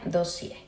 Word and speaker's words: Dossier: los perfumes de dossier que se pronuncia dossier ya que son unos perfumes franceses con sus instalaciones en